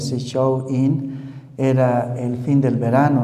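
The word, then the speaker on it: Samhain: Esta fiesta que se pronuncia, show in era el fin del verano, no significaba el fin del verano.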